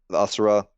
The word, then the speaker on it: Asura: Asura, yeah, Asura. Okay. Okay. If anyone wants to challenge me on that, fine, let's go for it. But it depends on what you're looking for. The Asura, you're going to get the population.